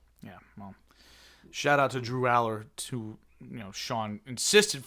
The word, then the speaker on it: Allar: Penn State I always think it's pronounced Allar. Pretty sure it's Aller.